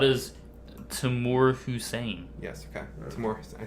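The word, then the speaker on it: Tamoor Hussain: Timur Hussein. I pronounced it right.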